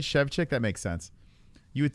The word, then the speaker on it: Szewczyk: Szewczyk. Oh, yeah, that's probably how you say it, right? Szewczyk.